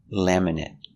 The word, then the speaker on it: laminate: it's an adjective so we use the short s sound laminate let's practice with laminate